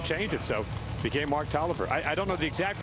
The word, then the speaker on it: Taliaferro: me say Mark Toliver normally I've been saying Mark Talia Farrell but Chance encounter yeah I ran into him yesterday and I kind of remember when we first started watching him race years ago that he said his name was pronounced Oliver so I went and checked